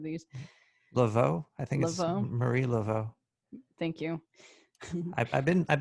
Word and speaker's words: Laveau: so no voodoo conversation is complete without mary level god damn it i wish i looked up this pronunciations of these level i think marie laveau thank you i've been i've been to her